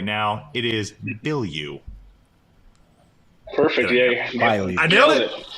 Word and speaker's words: Bilyeu: I've heard Blue, Bilyeu, all these different I like that. pronunciations. Yeah, Bilyeu.